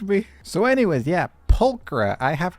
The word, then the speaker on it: Pulchra: Bernice will actually say her name, and that made me realize I've been saying her name wrong this entire time. Why did no one correct me? So, anyways, yeah, Pulchra.